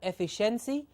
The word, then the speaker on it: efficiency: Efficiency. Efficiency. Please note also the pronunciation of this word. It's not efficiency, but it's efficiency. It's like a fish, like what lives in water, a fish, okay?